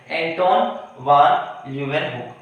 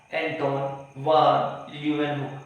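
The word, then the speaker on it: Antonie van Leeuwenhoek: एंटोन वन ल्यूह एंटोन वन ल्यूवेन हुक एंटोन वन ल्यूवेन हुक नाम pronounce if यू आर not able to pronunciate it please do repeat after me. एंटोन एंटोन वन ल्यूह हुक।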